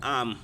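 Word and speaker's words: arm: कमर best वहां आम इसमें आर साइलेंट समझ लो रहता है ए ए आर एम है आर्म होना चाहिए पर हम पढ़ते हैं आम क्या पढ़ेंगे आम बेस्ट आम और कोहनी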